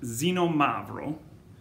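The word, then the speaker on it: Xinomavro: comes from is now usa the grape is pronounced xenomavro it's a picture this being a step or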